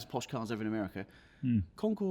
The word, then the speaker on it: concours: cards ever in America concour or Concourse concour concour concour oh concors and Concor you like to go Posh with a bit of French accent do you yeah us be careful how to spell it it's not a walkway that's the key fact yeah not Concourse no definitely not there's been a few